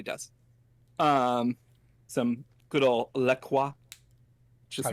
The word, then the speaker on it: LaCroix: but no it's not LeCrae they say it Lacroix that's what they say oh my god really yes they say it's Lacroix it rhymes with enjoy that's literally what the